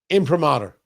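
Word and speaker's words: imprimatur: Would it be uh imper? Is that the correct pronunciation? Hold on. Let me see if I can get the correct pronunciation here. Impromater.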